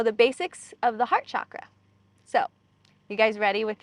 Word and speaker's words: chakra: chakra but the real the correct term is chakra like if you would say church so chakra which i'm still trying